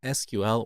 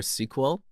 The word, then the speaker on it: SQL: got all these databases that are prefixed with SQL or sequel I decided to prefix them with sequel so